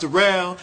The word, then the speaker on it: Darell: It's spelled like Darrell, but pronounced Darell.